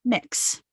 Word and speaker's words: Mx: moving into greater use mx pronounced mix that's the gender neutral